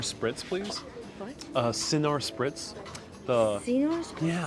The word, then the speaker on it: Cynar: Cynar Spritz? Yeah, I'm not sure how it's pronounced, but Cynar. Cynar.